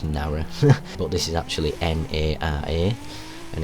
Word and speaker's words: Nara: similar note, uh we're heading now over to Narrow Park. Uh not Narrow. That's not just my accent because where I'm from, Narrow is usually pronounced Nar, but this is actually N A R A.